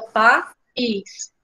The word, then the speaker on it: país: E aí, o caso dos hiatos é quando a gente tem duas vogais em sílabas separadas. Ela vem junta na palavra, né, as vogais, mas quando a gente tem, como é o caso da palavra país, a gente tem duas vogais aqui, ó, juntas. O A e o I. Mas quando a gente vai separar as sílabas aqui, essas duas vogais se separam, né? Fica país.